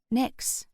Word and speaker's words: Nyx: "Nyx," I said aloud, and I could have sworn the kitten gave a nod of approval. I pronounced her name to rhyme with tricks, as she seemed like a tiny trickster.